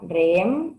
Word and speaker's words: Rheem: IGA, ¿cómo es el caso de la marca REEM? No sé si lo estoy pronunciando bien.